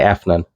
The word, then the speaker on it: Afnan: This is from House of Afnan, or Americans say Afnan.